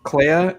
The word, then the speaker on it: Clea: Clea and Vel.